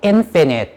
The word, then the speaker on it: infinite: 여기 요 단어 발음 주의해 주세요. finite 이라고 읽으셔야 돼요. 한 번만, finite. 네, 이렇게 읽으셔야 돼요. 제한된이란 뜻이고, 아까도 적어놨지만, 아까 앞에 그 부정격도 in이 붙어가지고 infinite 발음이 이렇게 달라지는 거 좀 알고 계시면은 좋겠습니다.